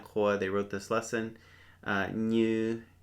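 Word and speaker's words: nyws: Now, this one was new to me from our when our friends Yiannis Kourou they wrote this lesson "new" n y w s "new". It is it has a different meaning besides this, but it can also mean to screw something on.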